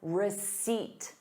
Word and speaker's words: receipt: Please keep your receipt. Receipt. There is no P in the word.